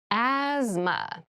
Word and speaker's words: asthma: deep cavity asthma asthma Asma so this word has very interesting spelling there's a th in the middle but we don't say asthma we say asthma so kind of ignore that but try to remember